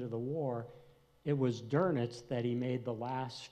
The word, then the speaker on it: Dönitz: And the mastermind was Admiral Dönitz, is the way you pronounce his name.